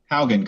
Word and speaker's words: Haugen: We pulled, I'm going to say his last name wrong, Haugen? Haugen, correct.